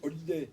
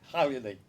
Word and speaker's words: Hallyday: Français ne savent pas prononcer. Ils disent Holiday, il faut dire Hallyday.